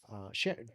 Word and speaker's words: Sharon: Sharon, did I say that Yeah, correctly?